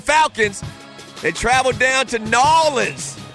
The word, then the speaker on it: New Orleans: they travel down to nans that's the way you pronounce it n you don't say New Orleans if you say that you're instantly a tourist they know you're a